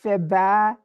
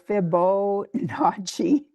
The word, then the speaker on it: Fibonacci: about this because I always want to, I pronounce it Fiba, but it's Fibonacci.